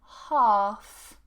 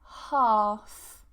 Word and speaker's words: half: So normally if we have an AL combination, we don't pronounce the L.